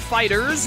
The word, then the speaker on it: FighterZ: I played Dragon Ball FighterZ. Yes, I know it's pronounced Fighters, but the people who made that decision are idiots because that's the stupidest video game name of all time.